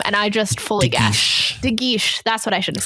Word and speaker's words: De Guiche: De Guiche. That's what I should have said. Yeah, and I believe it's pronounced protestations, not protestations.